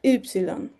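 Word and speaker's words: ύψιλον: para ser más precisos, se pronuncia como una u francesa, como si quisiéramos pronunciar i, pero pusiéramos nuestros labios como para decir u. Entonces es la yilon.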